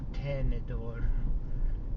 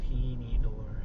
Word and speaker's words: tenedor: Because the real Spanish pronunciation is tenedor, not tenedor.